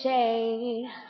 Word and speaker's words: Shay: My name is Shay. It rhymes with rain.